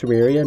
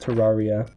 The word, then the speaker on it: Terraria: It's pronounced Terraria, not Terraria.